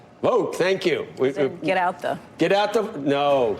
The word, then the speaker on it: Vought: going through life with the last name called vote in this day and age that's kind of interesting isn't it uh pronounced Russ vote vote thank you get out